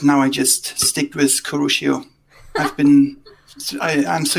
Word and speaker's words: Kurushio: you choose this name for yourself um i pronounced it kurushio and it's um actually a bit of a